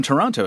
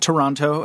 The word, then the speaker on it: Toronto: episode and he said he cringed every time I pronounced the second T in Toronto so but you just pronounced it Toronto as well so is there a dialect thing that I'm not that I don't know about what's happening no we do not say Toronto we say Toronto but I of being